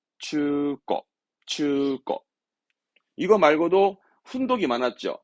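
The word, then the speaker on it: 中古: 발음은 추거.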